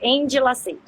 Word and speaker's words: Endilacete: Deixa eu só corrigir um errinho. É de pronúncia mesmo, isso acontece sempre, tá? Mas a pronúncia é Endilacete.